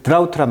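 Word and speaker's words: drought: 그러니까 어 그 드라우트란 말은 이제 그 드라우트 GH가 묵음해요.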